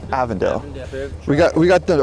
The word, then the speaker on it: Avondale: right avondale all right that's the print proper pronunciation avondale we got we got the original h trucks